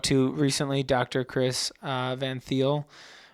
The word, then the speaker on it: Thiel: Chris Van Thiel. Is it Thiel or Teal? Teal. Teal.